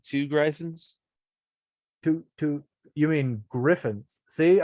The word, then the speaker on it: Gryphon: Have you heard of this guy called Two Gryphons? to you mean Griffins? See, I can do it too. Well, it's spelled Gryphon, so Yeah. could be Griffin. Two Griffins.